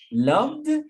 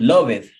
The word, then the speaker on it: loved: what is the pronunciation the pronunciation is like with t loved is relaxed loved loved asked asked asked is strong loved is relaxed loved the sound of the d loved loved is not loveth right i love it